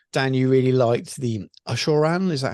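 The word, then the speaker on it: Abhorrant: so to speak Dan you really liked the aoran is that how it's pronounced from the fleshy courts yeah um auran yes uh so aside from the fact it's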